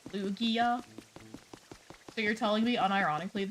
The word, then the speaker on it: Lugia: I think it's a hard G, so that doesn't help me because I don't know what the heck a hard G is. Is that Lugia?